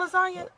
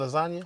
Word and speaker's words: lasagna: know how to spell lasagna so this is a silent G and lasagna exactly bars went over